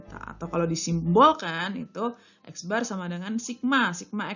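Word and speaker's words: x̄: Nah, biasanya dilambangkan dengan X bar, bacanya X bar. Jadi X terus di atasnya ada garis.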